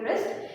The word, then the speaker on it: wrist: can say this here before R especially in the beginning of the words before are the word w is silent wrist is basically your C you can see this C where you C where you want wear the watches where you want the bands or any kind of anything else this is called your wrist and we don't pronounce it as theist it will be pronounced as wrist r i s wrist